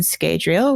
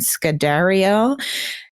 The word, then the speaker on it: Scadrial: And they discuss some of Eili's findings, like her notebook where it mentions Nalthis and Scadrial, which he corrects her Rosharan pronunciation, Nalathis and Scadariel.